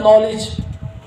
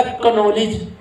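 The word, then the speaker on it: knowledge: लज होता है नॉलेज इसके जब स्पेलिंग बोले जाते हैं तो के से शुरू होता है के एन अगर स्पेलिंग से देखकर इसको पढ़े तो इसका लज की तल य बनता कनोज कनोज अब आप किसी इंग्लिश को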